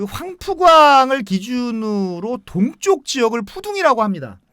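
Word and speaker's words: 浦东: 이 동방명주탑을 소개하기 전에 푸동지구에 대해서 잠시 그 설명을 하면 그 황푸광을 기준으로 동쪽 지역을 푸둥이라고 합니다. 예. 이제 그 중국 발음 푸둥이죠.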